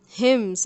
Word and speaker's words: hymn: his childhood were glamorous hymns again the N is silent you can look up